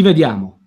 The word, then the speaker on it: vediamo: The E is E. Yeah, we pronounce E's like E in Italian. It's like a short E sound in English.